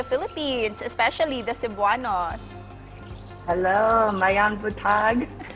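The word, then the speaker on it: Maayong buntag: Hello, Mayang Butag.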